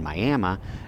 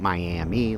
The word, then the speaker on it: Miami: is I am saying miam not Miami like that city in Florida because that's the way it's pronounced here in Oklahoma miam miam has has